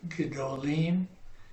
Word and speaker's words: gedolim: We're going to try and keep it as close to 2 syllables as we can. Feminine singular is gedolah. Masculine plural is gedolim.